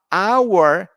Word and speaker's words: hour: But our has a silent H.